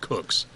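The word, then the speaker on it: Kucks: one of nothing in ten innings and Johnny cooks spelled K uck as cooks but pronounced cooks so where was tingle he had the best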